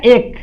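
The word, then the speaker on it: ache: कोई बोलेगा एच ए नहीं है, इसको इसका प्रोनाउंसिएशन होता है एक, क्या होता है? एक, इसको एक बोला जाता है और इसका मतलब निकलता है दर्द।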